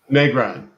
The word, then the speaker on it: Negron: Negron.